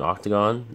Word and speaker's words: OCTGN: You can use that program that's still around, Octagon, OCTGN, I think. But the logo is an octagon, so that's how people pronounce it.